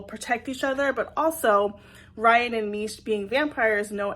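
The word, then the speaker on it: Rhian: gonna say his names it's like r h i a n Ryan and Mish and they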